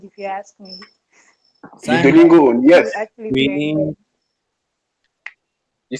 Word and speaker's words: Duolingo: So a couple of schools in the UK right now are already using, I don't know how to pronounce that, is it Duolingo? That language. Oh, Duolingo.